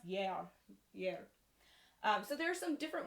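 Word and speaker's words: gear: So the word year in Old English is spelled G-E-A-R, like year, but it's pronounced year.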